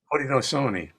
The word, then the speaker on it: Haudenosaunee: But the question is, or excuse me, I'm going to spell it. The question is, you mentioned and this word is Hauden'na, Osaunee. Haudenosaunee.